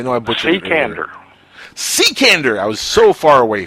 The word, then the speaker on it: Cekander: Larry and your last name how do you pronounce it sir because I know I butch ain't Canada Sikandar I was so far away from that and